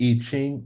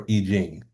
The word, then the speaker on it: I Ching: You can pronounce it, Oh, you can pronounce it I Ching or I Jing.